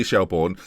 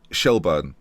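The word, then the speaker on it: Shelbourne: if I accidentally say say shellborne that's because of how it's written in the language I speak shellburn though is apparently more accurate just letting you know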